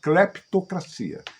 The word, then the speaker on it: cleptocracia: Os governos pós-revolução instauraram aqui uma cleptocracia. O P é mudo. Cleptocracia.